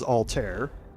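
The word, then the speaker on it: Altair: Assassin's Creed games but the astronomy version is Alter and now that we've had that encounter here's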